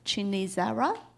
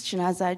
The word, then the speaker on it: Chinaza: the next presenter um chinara the ji if I didn't say it correctly right good morning my name is chinaza I'm a up Uprising